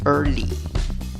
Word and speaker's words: early: En la primera sílaba, la vocal no es E ni es A, es schwa. La que no es ni E, ni A, ni E, ni O. Y en la segunda sílaba, la palabra termina con una Y y la pronunciación es con una I larga, representada por esa E con el sombrero arriba.